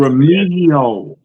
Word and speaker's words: Remigio: It's Remigio. It's like the G is kind of silent, I guess. However you pronounce Remigio.